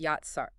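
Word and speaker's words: יָצַר: The Hebrew word for formed is yatsar, pronounced yatsar.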